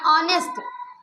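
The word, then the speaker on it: honest: ले है ना या ऑनेस्ट क्या ऑनेस्ट ऑनेस्ट राइट किए ठीक है ऑनेस्ट क्यों राइट किए इसकी स्टार्टिंग तो एच इसलिए तो ऑनेस्ट बोलना था।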